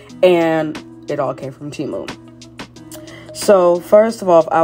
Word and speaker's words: Temu: First of all, I just want to say that Temu is pronounced Temu.